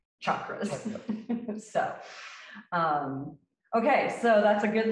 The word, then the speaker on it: chakras: it, and he says, I'm going to give Westerners permission to say chakras and say that's the English pronunciation. But the correct pronunciation is chakras.